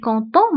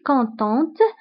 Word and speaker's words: contente: ففي الكتابة كنضيفو او وفي النطق كنطقو تي، فبالنسبة جو سوي كونتون ما كنطقوش تي في اخر الكلمة، ولكن في المؤنث جو سوي كونتونت كنطقو تي اللي هي انا فرحة. جو سوي كونتونت انا فرحة.